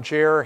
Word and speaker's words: Jer: I am Chaplain Jer Henson. Jer rhymes with air.